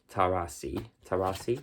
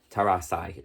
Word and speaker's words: Tarasai: is that when her child Tarasi, yes, the pronunciations are at the back for context, I just don't want to get them wrong. Tarasai, sorry, which apparently means behold